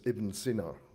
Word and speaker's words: Ibn Sina: Um correctly pronounced as Ibn Sina in Arabic.